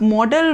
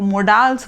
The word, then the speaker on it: modals: इसे बहुत से लोग मोडाल्स बोलते हैं, जो बिल्कुल गलत है. इट इज़ मॉडल.